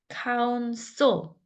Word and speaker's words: counsel: counsel, so 거의 모음이 없다시피 한 발음이에요. counsel도 아니고 counsel도 아니고 counsel, 스, 르 소리가 counsel, counsel 이렇게 counsel과 and